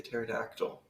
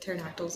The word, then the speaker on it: pterodactyl: would have to say a pterodactyl is it because of the silent P that is a very